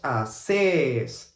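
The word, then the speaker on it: hacés: Okay, we have the strong vowel is the last one. Vos haces. Like this singing, like this Italian singing.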